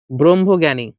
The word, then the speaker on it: ব্রহ্মজ্ঞানী: ব্রহ্ম এখানে জননী না ব্রহ্মজ্ঞানী। এটা উচ্চারণ কি হবে? ব্রহ্মজ্ঞানী।